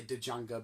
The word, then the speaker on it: Django: I only say Django because the guy in it. Django. The D is silent.